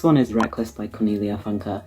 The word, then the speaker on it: Funke: Never known how to pronounce her surname and I feel awful. Funker. Cornelia Funker. Okay, the next one is Reckless by Cornelia Funka.